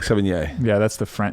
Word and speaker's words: Sevigny: before you can say 7 yeh or like 7 yeah yeah that's the front it's friend 7 yeah that's what I bought it's not 70 Chloe Sevigny it's Chloe Sevigny so if you